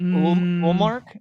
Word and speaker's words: Ullmark: Is it Ullmark? Is that how you pronounce it?